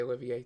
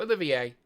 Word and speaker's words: Olivier: I guess I would say Olivier too. Yeah, it's French. Okay. So Olivier.